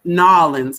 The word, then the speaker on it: New Orleans: to see his city and enjoy Nolans, as he says it. All right, I probably can't say it like he says it, but to enjoy New Orleans.